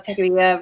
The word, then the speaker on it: Techqueria: And David, do you want to tell us a little bit more about what Techqueria is? So some people don't get the pronunciation.